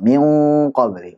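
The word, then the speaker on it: مِن قَبْلِ: Cara bacanya siap-siap ke qaf, ditebalkan, kemudian dipanjangkan gunahnya. Min qabli.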